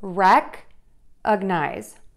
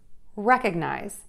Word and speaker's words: recognize: We're gonna make that syllable a little bit higher in pitch, and we're also going to make that syllable a little bit louder. So rec-ug-nize, recognize, recognize.